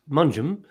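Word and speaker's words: Mongeham: first story is about little manjim pronounced munchem um remember this is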